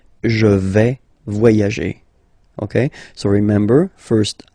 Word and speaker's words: vais: Okay, first person here, je vais. Remember, final S not pronounced. Je vais.